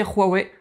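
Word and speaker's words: Huawei: low cost derouet et oui j'ai bien dit roy way petite dédicace à jlg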